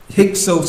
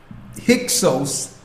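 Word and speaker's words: Hyksos: as the hick period hios is spelled h y k s o s hios in the Greek means Shepherd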